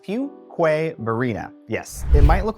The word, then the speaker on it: Fuquay-Varina: look at this one tricky isn't it it's pronounced fqu Verina yes it might look like something different you